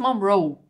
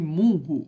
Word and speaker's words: Munro: livros dela por aqui o pessoal chamando o sobrenome dela de munro Alice munro né mas não gente é monro mesmo tá é mesma a